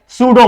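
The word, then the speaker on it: pseudo: से चालू होगा तो लिख के ए जाएंगे सुडो बोनस आप सुडो बोनस बराबर है ना ये स्पेलिंग होना लेकिन उसको क्या मालूम उसने तो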